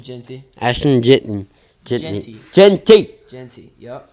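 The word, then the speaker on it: Jeanty: Genty, yep.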